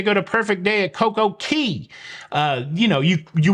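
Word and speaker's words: CocoCay: say key unless it's Coco K because Royal Caribbean has branded that to be said Coco K so don't look like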